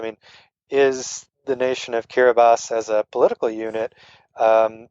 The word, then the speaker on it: Kiribati: the places I visited was a country called kiribas it's spelled like Kiribati but it's it's pronounced Caribou I've had the uh the former president of